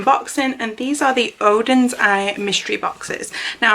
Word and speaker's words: Oden's: and these are the odin's eye mystery boxes now i'm pretty sure you say like odin's because i've heard and jessica say it like that and i used her